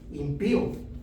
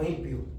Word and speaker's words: impío: Impío, así se pronuncia, impío. Impío, no impio. Impío. Impío. Acento en la después de la p y impío.